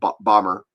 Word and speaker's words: Baltimore: Uh Baltimore has the same problem. Uh if you're you know people that live in Baltimore a long time just call it bomber for example.